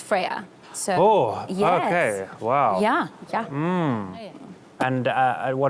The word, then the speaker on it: FRYA: a Greek goddess yeah it's actually originates from Greek mythology so it's actually pronounced Freya so yeah hmm and